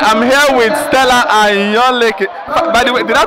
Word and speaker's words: Ayanleke: All right, I'm here with Stella Ayanleke. By the way, did I pronounce that well? Ayanleke. Ayanleke.